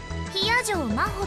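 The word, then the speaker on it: 比屋定真帆: Hiyajo Maho って読むの。私の名前、Hiyajo Maho。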